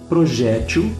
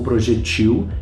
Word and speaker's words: projétil: são aceitas pela língua Projétil ou projetil que é qualquer coisa que você arremessa na direção de outra pessoa com a intenção de ferir réptil ou repetiu acreditem vocês ou não As duas pronúncias são admissíveis as duas escritas são admissíveis assim como xerox ou xérox também são ambas aceita sambas admitidas pela língua portuguesa não existe uma correta e uma incorreta só gostaria de relembrar mais